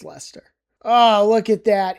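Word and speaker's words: Leicester: This one is Lester. It's not Lyster or Liechester. I don't know if I've heard Lchester, but it's Lester. So, it's Lester.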